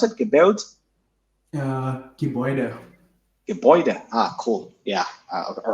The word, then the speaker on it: Gebäude: our Airtable, and it shows you the word Gebaut, which is the German word for building. Is this how we pronounce it? Gebaut? Gebäude.